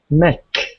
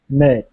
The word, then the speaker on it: make: um m m make Mech m a t e ah make make yeah stretch your stretch your mouth a little more and move your tongue so you get a kind of a y sound make make okay okay